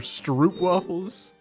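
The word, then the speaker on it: stroopwafel: The best Dutch snacks are Stroop waffles.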